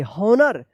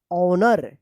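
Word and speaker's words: honor: होनर नहीं इसका उच्चारण होगा ऑनर। यहां पे भी एच जो है ना साइलेंट है।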